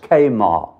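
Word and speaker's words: Chemarim: "And I will cut off the remnant of Baal from this place, and the name of the Kemarans," pronounced Kamar, "with the priests."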